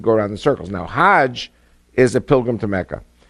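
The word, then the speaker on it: حج: Now, Hajj is a pilgrim to Mecca. Hag is the Egyptian pronunciation.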